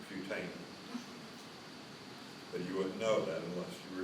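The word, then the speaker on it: putamen: the Pam and you got them all right mispronounced pamin it's putan you wouldn't know that unless you were here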